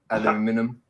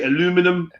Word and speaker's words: aluminium: Aluminium. Aluminium. Aluminium or So aluminum. What's the correct way to say this word? Aluminium. Aluminium. Aluminium. Americans say aluminum. Aluminium.